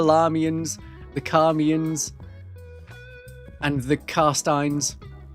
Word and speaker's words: Carstein: Should be very easy to pronounce for anyone who knows the Larmians, the Carmians, and the Carsteins. Is it Karnstein? No, it's Carstein. Carstein.